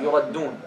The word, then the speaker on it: يردون: And see how we pronounce the يردون. يرد دو ها why again you see why this helps you يردون. This is a common mistake.